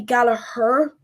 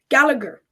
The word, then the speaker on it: Gallagher: Irish people would be Galla her like the gallaer rug gallaer rugby Championship here in Ireland um on commentators if it's an English commentator they'll go Gallagher but that's not true so I think that's